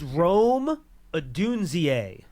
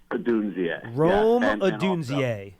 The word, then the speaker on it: Rome Odunze: I can't pronounce his name, but he's just so good. Okay, let's work on it. It's Rome Odunze. Rome Odunze.